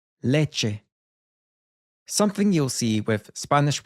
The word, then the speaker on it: leche: If it's only a two-syllable word, then that means the stress will come up front. Llave. Leche.